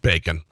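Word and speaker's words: Baccam: was a joke about his last name which is pronounced bacon he said at first I thought it was a joke the real way my name is pronounced is bacon that was the impetus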